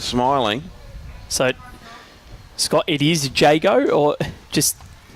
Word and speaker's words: Jago: Jago. There we go. Aaron Jago. So I'll write that down phonetically.